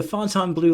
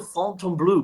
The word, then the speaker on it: Fontainebleau: Fontainebleau in Florida. The company anglicized the name because while they knew it was pronounced the French way in France, Hmm.